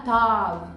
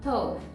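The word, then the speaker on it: טוב: Você não fala tov, como a gente fala em português. A gente fala tov, tá vendo? A boca não abre tanto.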